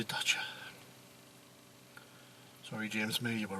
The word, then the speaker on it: Dacia: better so you know daisy as you know that's English way I say it but guess he must say thata sorry James May you